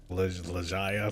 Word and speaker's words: Legaia: Legaia? That's how you pronounce that.